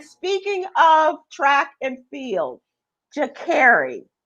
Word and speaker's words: Sha'Carri: Sha'Carri, Sha'Carri, and I forget, there was like 4 different pronunciations, but it is Sha'Carri.